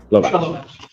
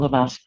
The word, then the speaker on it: Lavaz: People versus Lovas or Lovas. Good afternoon, Your Honor. John Shea appearing with and on behalf of Ms. Lavaz. Your name, ma'am? Lavaz. Okay, I mispronounced it.